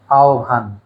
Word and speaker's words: আহ্বান: এর শুদ্ধ উচ্চারণ আহ্বান।